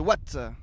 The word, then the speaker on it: Watten: Et on a également pu parler de l'histoire de Watt. Il était une Flandre avec Eric Vanneville, où on revient sur l'histoire de cette ville qui s'écrit Watten. On va peut-être savoir pourquoi ça se dit Watt, je ne sais pas,